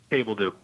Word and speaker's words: Cabeldue: can you clarify pronunciation your last name? Able do.